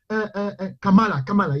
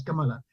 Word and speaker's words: Kamala: What's the right pronunciation for that name? Kamala, yes, Kamala.